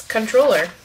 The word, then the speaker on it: comptroller: This word sounds like controller if you tend to pronounce the silent PT. Please control yourself. So, it's controller.